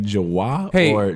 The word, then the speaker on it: Jawa: know what let me know if you like jawar Joe let us know in the comments how do you guys pronounce it you could mount the correct way